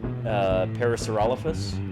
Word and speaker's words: Parasaurolophus: And Lenina, I don't know, most paleontologists I've heard pronounce it Parasaurolophus.